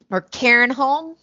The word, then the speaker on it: Cairnholm: So Carnholm is not real. No, I didn't figure, but if it were, it'd probably be pronounced by the locals more like Cairnholm. Yeah. You know, like with the lilt.